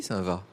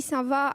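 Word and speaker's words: Saint-Vaast: Donc on y voit bien l'ancienne cathédrale gothique, l'ancienne abbaye Saint-Va gothique. Donc cette abbaye Saint-Va a été détruite au XVIIIe siècle. Ça se prononce Saint-Va, mais ça s'écrit Saint-Va-Ast.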